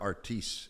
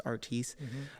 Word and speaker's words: Artis: It was to solve a family argument because on the East Coast we pronounce our last name Artis, West Coast is Artis. And so my father was like, for the last kid, it's gonna be Artis.